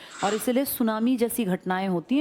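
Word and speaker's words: tsunami: Eruption था मैं तो सुनामी की बात कर रहा हूं ना सुनामी जापानी भाषा का शब्द है जिसमें टी साइलेंट लिखते हैं ऐसे बोलते हैं। लिखते हैं टी सुनामी बोलते हैं सुनामी।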